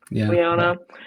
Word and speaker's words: Lyanna: Lyanna Lyanna um and he was saying like how